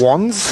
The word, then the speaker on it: Wands: Do we pronounce it Wands or Wans? Wands. Wands it is.